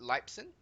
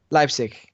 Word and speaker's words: Leipzig: of the place I would be terrible at pronouncing European names oh yeah um so was it Lipson Lipson Leipzig Leipzig okay so after what you saw in